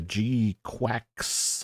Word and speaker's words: GQuuuuuuX: This is the the G Quacks. I guess that's how it gets pronounced. Q GQ and a bunch of U's and an X.